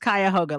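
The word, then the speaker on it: Cuyahoga: mispronounced the name of your community college it's pronounced kayoga like the kayoga river so well well well good I'm glad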